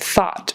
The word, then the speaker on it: thought: And thought, again with a short O, ah, and not a long O.